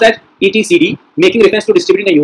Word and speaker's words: etcd: It is pronounced as ETCD, making reference to distributing a Unix etc.